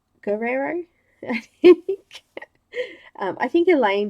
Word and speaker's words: Guerrero: I've been calling it I've been calling her in a stir arrow but it's actually Guerrero Guerrero yeah I think your